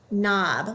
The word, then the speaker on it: knob: vowel should say ah it also has a KN the K is silent we just hear that knob like a doorknob that's three last word